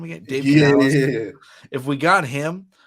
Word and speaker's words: Canales: I was like, how do you pronounce his name again? Dave Canales.